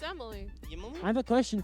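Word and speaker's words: Ymily: It's spelled Y-M-I-L-Y. All right. Yimily? I have, No, it's pronounced Emily.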